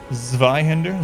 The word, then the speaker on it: Zweihander: It's supposed to be pronounced as a Z. Station is Zweihander, Zwei.